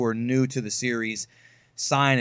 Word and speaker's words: Saiyan: new to the series, sign is the right way to say it, not saying you've been lied to all your life.